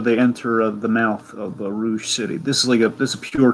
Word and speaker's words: Rouge: So what do you think of this whole the architecture of Rouge City, if you will, of Rogue City? No, it's Rouge. It is Rouge. Okay, sorry. It is spelled like the fact that like everything is